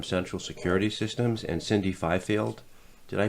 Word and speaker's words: Fifield: Jason Harpster from central security systems and Cindy Fifield did I pronounce that right you did thank you did